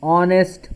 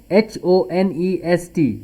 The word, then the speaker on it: honest: Example: he is an honest man. Here see, H-O-N-E-S-T, H is silent.